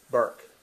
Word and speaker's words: Berwick: Hey, one syllable or 2 syllables? Berwick when you say it. Burke. Berwick. It's Burke. Just one Burke.